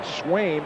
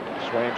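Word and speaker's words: Sveum: And Swaim, S-V-U-E-M, it's 1-1 now, is Norwegian. Pronounced Swaim.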